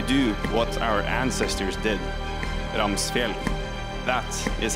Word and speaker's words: Ramsfjell: Ramsfjell. That is how you pronounce it.